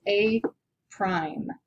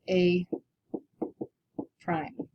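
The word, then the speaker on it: A′: a little uh apostrophe which we pronounce as a prime so this would be called the image here would be called a prime uh the original figure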